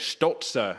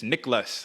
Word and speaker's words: Niklas Stolze: So I don't know if you knew that's how you say it, Stolze, and it's Niklas, like not Niklas Stolze.